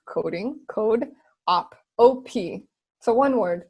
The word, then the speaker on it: CodeOp: want to check it out okay oh it's codop right so code c o d as in dog e like coding code op op so one word codop dot tech dot tech okay okay and then